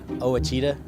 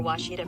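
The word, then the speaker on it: Ouachita: Back in Texas, everybody pronounces it Witchita, but really it's how would you pronounce it? It's Baptist University. Get it right. It's people. It's wash. Wash it off.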